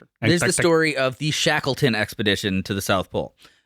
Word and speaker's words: Shackleton: There's the story of the Shackleton expedition to the South Pole.